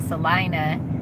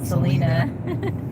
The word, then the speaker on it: Salina: found out they have a town called Salina instead of Selena yeah I'll be surprised